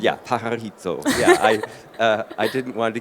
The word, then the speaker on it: Pajarito: I've been talking to Alia Lubers, who's Catalyst Manufacturing Manager at, and it's pronounced with... Pajarito. Yeah, Pajarito.